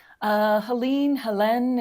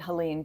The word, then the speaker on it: Helene: Am I pronouncing that right? Helene, if you have a French degree, like some of us. But I think we've been pronouncing it Helene because that's what we do over here. We take the pronunciations of things and turn it to our purposes.